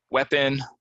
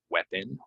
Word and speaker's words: weapon: uh du du dozen weapon this one gets people as well they want to say like e but no it's weapon weapon put down your weapon drawer I'm not talking